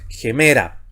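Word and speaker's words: ἡμέρα: de izquierda a derecha, debe anteponerse un sonido gutural J, así se lee, anteponerse a la vocal. Por eso es gemera.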